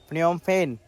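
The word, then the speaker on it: Phnom Penh: Fact बताया था कि इसकी कैपिटल का नाम एक ऐसा नाम है जिसको दूसरी भाषाओं में प्रोनाउंसिएशन करना अलग है और इंग्लिश में प्रोनाउंसिएशन करना अलग है, जिसका आंसर है फ्नोम पेन।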